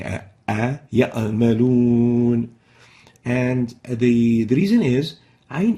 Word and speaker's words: يعملون: First mistake is truncating the pronunciation of the Ain when it is sakina, when it has sukun. Example, يعملون, يعملون. This is wrong. The right way of pronouncing it is يعملون.